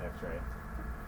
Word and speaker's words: XR: uh you can just pronounce it X-ray and uh and and check out X xr.